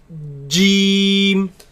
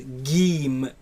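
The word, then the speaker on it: جيم: It is a solid letter. The makhraj of it completely closes. So j, j, jeem. Jeem. And it is incorrect to pronounce it as geem with a g sound. No geem, right? In the Quran it's pronounced as jeem.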